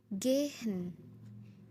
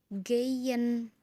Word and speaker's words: gehen: Contohnya gehen. Gehen. Tapi biasanya orang-orang tuh melafalkan kata gehen itu jadi geyen. Jadi huruf Y loh.